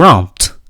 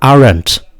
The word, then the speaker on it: aren't: Et là, faites bien attention à la prononciation. There aren't. Et non pas there aren't. Non. Ça, c'est pour les Français, ça.